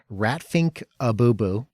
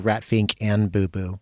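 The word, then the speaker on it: Rat Pfink a Boo Boo: Ratfink Abubu. That's the correct pronunciation. Don't listen to people who tell you Ratfink and Boo Boo or like IMDb.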